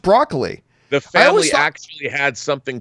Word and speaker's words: Broccoli: bucoli is it Barbara Brock wrong it is pronounced broccoli the family act had something to do with broccoli itself I actually always thought it was brocoli but there you go broccoli it is anyway